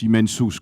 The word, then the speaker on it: immensus: Bon, immensus, on prononce immensus quand on fait du latin. Le groupe NS ne se prononce pas en latin, c'est Quintilien qui le dit.